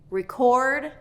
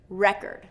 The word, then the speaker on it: record: So do you hear how the stress changes the pronunciation? Record, record.